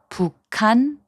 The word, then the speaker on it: 북한: In the first group of words, 기역 and 히응 are combined to make a 키읔 sound. 북한, which means North Korea, is pronounced as 북한.